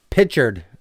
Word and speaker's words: Pritchard: Pritchard, or however you say his name, is injured. It's Pritchard.